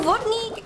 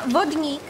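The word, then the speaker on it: Vodník: Okay, so in Vodnik... And a bit of work to put them together. ...is how we pronounce it in Czech Republic.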